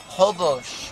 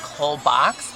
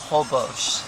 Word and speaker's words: Holbox: car free island called hobosh right it sounds it's the way it's spelled it looks like whole box but it's actually hobosh so yeah it's going